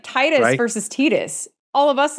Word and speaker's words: Tidus: Most of us in the US would pronounce it Titus. Now, I could see where Titus would make sense for some of us, because again, I speak 2 languages and I is pronounced as E, right? That's true. Yeah. So I could see that, but no, it's Titus, right?